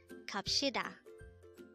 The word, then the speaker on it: 갑시다: Again, it's gabshida.